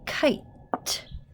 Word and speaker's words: kite: think we're gonna spell kite so we need our k i mean ii that i i i in a kite kite and well you don't hear that silent e so you guys might